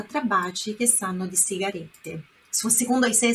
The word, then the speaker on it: sigarette: Por outro lado, sigarette tem dois T's no final. Sigarette. Então, é aquela meia pronúncia, né? Dá aquela forçadinha nesse final aqui, ó. T. Sigarette. Sigarette. Tá? Senão seria sigarette.